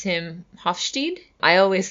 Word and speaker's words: Hofstede: think people pronounce him Hofstede I always say host a dick cuz that's the German pronunciation of this last name I actually had never